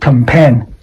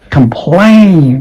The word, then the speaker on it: complain: But this is not compare to the manager. No, that is complain because the vowel is a sound. Plain, complain. The stress falls on the second syllable.